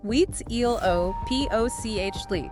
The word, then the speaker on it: Huitzilopochtli: It's pronounced Huitzilopochtli. Yes. If you don't nail that one, you're going to lose about 5 minutes of class time to giggles. That's a very good tip. Yep. So Huitzilopochtli, he commanded them to migrate south.